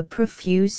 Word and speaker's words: profuse: their locks for adoris profuse is here accented on the first syllable although indeed the line can be read with the accent as is usual on the second syllable 113 to 5 and